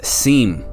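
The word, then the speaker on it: SIEM: and event management system abbreviated as s IEM pronounced as seam it's a very powerful tool that provides log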